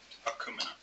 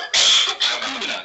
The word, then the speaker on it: Akumina: Yes, it's often mispronounced, so I'm being very deliberate in my pronunciation. Akumina. I'm joined today by my colleague Troy Trudell. I think so. Akumina, yes.